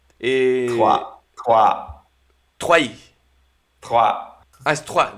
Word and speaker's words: Troyes: Trayeux. Trois, trois, Troyes.